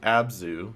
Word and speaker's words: Abzu: Abzu, just pronounced Abzu, is a game very similar to German exploration, but it's underwater.